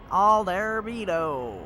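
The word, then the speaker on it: Aldar Beedo: I would say his name that way because how the announcer says it in the second game. He's got like this weird accent, so it's like Aldarbedo.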